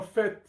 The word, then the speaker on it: fait: C'est vraiment un fait. Ouais, un fait ou un fait, ? On n'est pas là pour faire la fête de toute manière. Oui oui, vous pouvez vérifier, ? Le T final se prononce généralement.